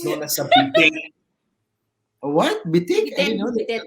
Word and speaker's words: bidet: no, wait, Filipino pronunciation, right? Nothing is silent.